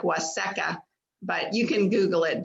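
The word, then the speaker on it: Waseca: It's W-A-S-E-C-A, Waseka. It's pronounced Washika, but it's Waseka.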